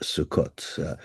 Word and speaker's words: Sukkot: The season customarily opened at the beginning of the autumn harvest festival of Sukkot, which these days in modern Hebrew is pronounced Sukkot.